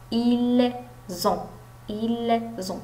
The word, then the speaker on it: ils ont: دونك لي فويل ديما كنقول لهم كنطقوها ز بحال زد. ils ont كاينه هنايا واحد لا ليزون.